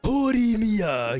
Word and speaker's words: Horimiya: Horimiya. You have to say it like that.